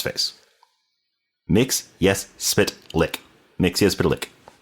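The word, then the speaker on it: Mxyzptlk: Mix lick. And the way that it's spelled, it's not mixelick. So, stop calling it Mixelick, people.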